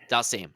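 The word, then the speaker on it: Dhalsim: Dalsim.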